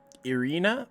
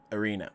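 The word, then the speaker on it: Ireena: you say that one more time uh erie irina sorry arena arena uh now is arena the one who's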